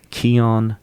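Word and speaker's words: Kion: It's called the Keon Bar.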